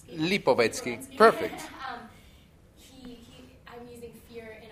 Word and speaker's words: Lipovetsky: So I think fear is a big element, and kind of like the author, I want to pronounce his name, Lipovetsky.